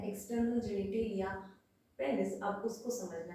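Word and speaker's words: penis: अब जो 4th number पे है एक्सटर्नल जेनिटेलिया पेनिस, अब उसको समझना है। एक्चुअली पेनिस नहीं होता है, पीनस करेक्ट प्रोनाउंसिएशन होता है, ठीक है।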